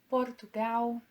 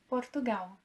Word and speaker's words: Portugal: The sound of L at the end of a word is normally pronounced as U and not For example, Brazil is pronounced Brasil and not Brasil.